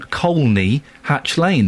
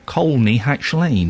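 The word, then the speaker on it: Colney Hatch Lane: I used to live on Coy Hatch Lane. There is an L in it. You pronounce the L. Coy Hatch Lane.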